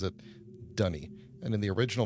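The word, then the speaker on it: D'ni: this little note um every character who is of this actual culture pronounces it dunny and uh that's how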